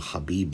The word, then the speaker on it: Khabib: Whatever the case, in this video, I'd like to ever so briefly discuss the name Khabib Nurmagomedov, which is the name of a very popular, very successful, and deeply religious competitor in the sport of mixed martial arts.